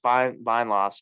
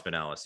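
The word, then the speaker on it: Binelas: It's nice they get Alex Bindloss too. Pinellas? Louisville. Is it Pinellas? Is that how it's Yeah, pronounced? Alex Pinellas.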